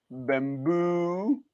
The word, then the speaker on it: Bambu: And that's how it's spelled, BAMBU, Bamboo, Bamboo Lab X1 carbon.